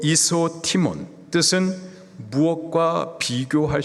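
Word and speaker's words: ἰσότιμον: 헬라식 발음으로 이소티몬, 뜻은 무엇과 비교할 수 없는, 무엇과도 바꿀 수 없는 가장 귀한 이라는 의미예요.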